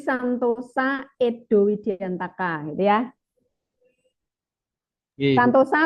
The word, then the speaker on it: Santoso: Santosa atau Santoso? Dibacanya sih Santoso harusnya. Santoso. Santosa. Soalnya kan belakangnya Widiantaka. Kalau O kan Santoso Widiantoko ya kan?